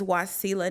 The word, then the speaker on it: Wasila: father's name is wasu and my name is wasila now my original name was supposed to be pronounced wasil uhuh with a te was lot